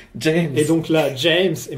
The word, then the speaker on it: James: parce que ça la la prononciation officielle c'est James et donc là James